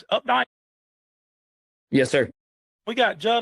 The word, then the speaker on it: Updike: So, folks, what we've got, how do you pronounce it? Updike?